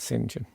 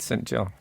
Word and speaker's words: St John: presenter in commercial radio who would pronounced that singen oh sorry they'd have said no no I'm commending you for that oh good thank you thank they'd have said St John yeah I know but